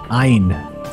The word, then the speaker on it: Ayn: Ayn. That's how you pronounce that.